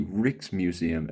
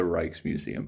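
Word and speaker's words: Rijksmuseum: drayton i just found out that it's actually pronounced the rix museum and not the reichs museum i was saying it wrong the entire trip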